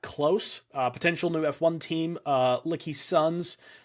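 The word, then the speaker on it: LKYSUNZ: Potential new F1 team, Lucky Sons, I think is technically how it's pronounced. I don't know. I was in my head pronouncing it Leaky Sons. I think it's Lucky Sons technically.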